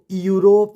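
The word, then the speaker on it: Europe: ओ पी ई इसको यूरोप ना पढ़कर हम क्या पढ़ेंगे यूरोप यूरोप तो आई होप आपको क्लियर हो गया होगा कि यू का उच्चारण कब यू के रूप में होगा जिससे रिलेटेड हमने तीन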